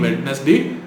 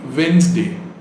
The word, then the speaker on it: Wednesday: day is celebrated in you pronounce it as wednesday so i met my old friend on wednesday okay stop saying wednesday and start saying wednesday and the next word